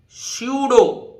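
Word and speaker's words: pseudo: है देखि य पढ़ पी साइलेंट सुडो तो क्या पड़ेगा इसको सुडो पढ़ लीजिए छम बहुत छिप के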